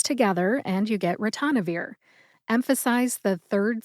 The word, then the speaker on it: ritonavir: final drug today is ranir ranir also has four syllables RI like wrist tan which rhymes with John N as in the